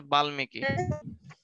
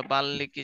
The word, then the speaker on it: বাল্মীকি: সংস্কৃত ভাষায়, সংস্কৃততে লেখা হচ্ছে বাল্মীকি বা বাল্মীকি, যে তোমরা বলো সেটাই। তাহলে তোমাদের উচ্চারণের জন্য সহজ শিখাই দিছে, বাল বালি বলবো ডাইরেক্ট, ঠিক আছে, বাল্মীকি, যাতে মনে থাকে আর কি।